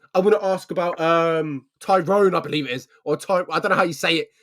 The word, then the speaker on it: Tyrone: I say it's like one word.